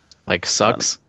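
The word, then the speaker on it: seax: You should actually drop the e from that. Just pronounce it like Sucks. yeah, kind of sort of like that.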